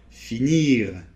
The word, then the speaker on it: finir: vous savez qu'en général, les consonnes finales ne se prononcent pas. Mais il y en a certaines qui se prononcent, et le "R" fait partie de ces consonnes qui se prononcent. Alors par exemple, dans les verbes comme : finir . Ou tout simplement, le mot : bonjour . - Bonjour. - Voilà. Alors, là en fait, on l'entend très légèrement puisque après, il